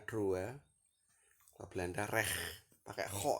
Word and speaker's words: droit: Perancisnya droit, tulisnya droit, bacanya droit.